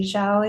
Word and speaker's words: Zhao: Hai claims it's confirmed knowledge that Feng's new love interest, and forgive me if I do not pronounce her name correctly, Zhao, is it?